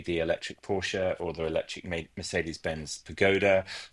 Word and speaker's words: Porsche: Which, for the record, it's Porsche, not Porsche, right? Because I feel like that's Absolutely a right. common mispronunciation.